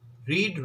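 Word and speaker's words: read: रीड की third form, रीड, रेड, रेड होता है, थर्ड फॉर्म स्पेलिंग सेम रहेगी, साउंड बदलेगा, रेड।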